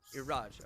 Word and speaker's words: Iraj: Iraj? Yeah, Yes. Okay. your pronunciation is correct. Iraj.